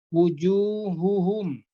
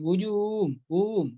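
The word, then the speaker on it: وجوههم: Jelaskanlah pengucapan huruf H tanpa berat seperti pada kalimat jibahuhum ya, dan wujuhuhum, jangan wujuhum.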